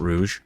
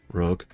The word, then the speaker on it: rogue: Not rouge, rogue.